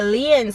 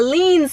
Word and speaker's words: lien: So this car was actually bought through a lien sale. A lien sale. I'm sorry, I forgot. Americans say lien. I say lien, but Americans say lien, so we're gonna go with lien right now though.